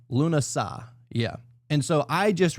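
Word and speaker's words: Lughnasadh: But it is pronounced, I believe, Lunasad or some shit like that. Or actually, no, I looked it up earlier. Lunasad.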